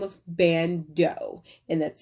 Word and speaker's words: Ban.do: that's based in california by the name of bando and that's spelled b is in boy a n dot